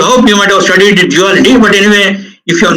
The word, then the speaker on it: duality: It is duality, D-U-A-L-I-T-Y. So do not get confused with respect to the pronunciation. Sometimes it may be thought that duality, J-E-W-E-L, dual.